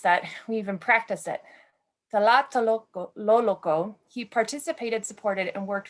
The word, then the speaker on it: Tlatelolco: A 1976 graduate of Escuela Tlatelolco, I know I mispronounced that, we even practiced it, Tlatelolco, he participated, supported, and worked firsthand alongside his